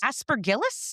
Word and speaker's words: Aspergillus: pronunciations. Aspergillus?